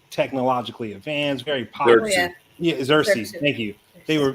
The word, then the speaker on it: Xerxes: killed Envy literally was the reason why the Xeris, if I can pronounce that country correctly, the one that was like technologically advanced, very popular. Xerxes.